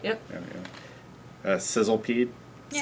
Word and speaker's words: Sizzlipede: Sizzlepede. Yeah. Sizzlipede, but yeah.